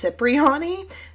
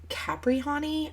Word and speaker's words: Cypriani: Okay, first of all, last name completely butchered. It's Cypriani, not Caprihani.